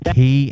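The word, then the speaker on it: quay: that b Thruster does not work proper is pronounced as key and it's a bay is in a body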